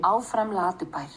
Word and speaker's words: Áfram Latibær: So here's the pronunciation. Áfram Latibær, which translates to Go Go Lazy Town, was